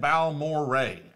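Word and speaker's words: Balmorhea: Balmoria is said Balmoray. That's not what it looks like, man.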